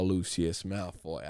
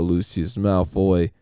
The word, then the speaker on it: Lucius Malfoy: to fucking Harry Potter, specifically about a Draco Lucius Malfoy.